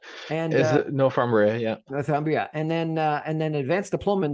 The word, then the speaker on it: Northumbria: He's got a professional diploma in architecture from, I can't even pronounce this, Northumbria University, and is it Northumbria? Yeah, Northumbria, and then advanced diploma in the professional practice of architecture from the University of Liverpool.